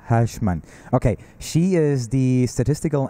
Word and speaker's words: Huisman: Did I pronounce it correctly? Huisman. Huisman.